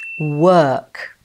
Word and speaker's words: work: correct answer is B, work. Were you confused? That's because the pronunciation of the OR spelling in work is not pronounced as you think it is, like in the word fork.